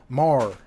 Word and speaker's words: Maher: Maher.